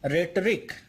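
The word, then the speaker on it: rhetoric: रेटरिक, ध्यान रखिएगा एच यहाँ पे साइलेंट है, रेटरिक इसे पढ़ेंगे। ओके, तो कंफ्यूज मत होइएगा, यहाँ पे ये जो एच लिखा हुआ है ये साइलेंट है, आप आर से सीधे ई पे जाएंगे और पढ़ेंगे इसे रेटरिक।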